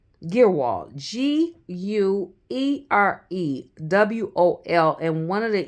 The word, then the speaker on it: Guerewol: Guerewol. Guerewol.